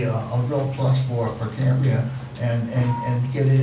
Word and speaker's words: Cambria: couple years I was corrected that the proper pronunciation is Cambria and I do know about the history of